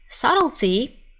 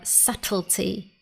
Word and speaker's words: subtlety: Subtlety is the noun form, and because subtle means something not very obvious or not easy to notice, subtlety in American English or subtlety in British English means the small but important details of something.